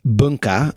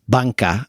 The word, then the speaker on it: Bunca: So the first place we'd chosen is rather confusingly written in English as Bunca, and you could also potentially pronounce it that way in Japanese, but we think it's also meant to be pronounced Banka.